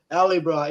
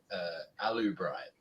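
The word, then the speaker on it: Alybright: Oh, they probably pronounce it alubrite because they say aluminum instead of aluminium. Yeah, but it's alley. It's A-L-Y.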